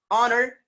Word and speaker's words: honor: Same case, an honor, an honor, honor, honor.